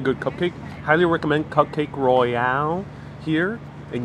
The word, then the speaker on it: Royale: Highly recommend Cupcake Royale here. And yes, it is pronounced Royale, just like the Pulp Fiction scene where they're talking about cheeseburgers in Amsterdam, and they say it's a Royale with cheese.